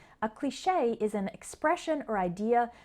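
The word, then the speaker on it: cliché: e recipe posse sesame but in the next three words the final e sounds like a the first one is cliche this word is from french and in english we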